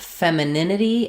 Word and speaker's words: femininity: So for femininity, we stress on the nin syllable. So it sounds like fem with the F vowel, fem.